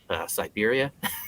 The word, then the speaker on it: Cyberia: and his sidekick is Siberia, the cyborg bear, and it's spelled Cyberia, Siberia. That's awesome.